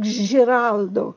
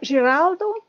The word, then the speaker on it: Ziraldo: looks like Ziraldo, but it was probably pronounced more like Giraldo back then, which is the same name as Gerardo. Okay, so Giraldo and Giovanni Crozina left